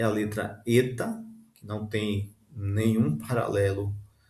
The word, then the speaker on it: eta: Então oil ele tem um som de e o eta tem um som de e sempre e ele no caso